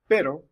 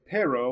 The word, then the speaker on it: pero: make that noise but it makes it more like a d sound an almost occlusive sound where like you actually stop the air from going uh going through like you're saying the letter d like the word buddy or ladder uh so we have this word uh pero which uh you know like with a little r there and so instead of saying pero we're saying pero pero if you listen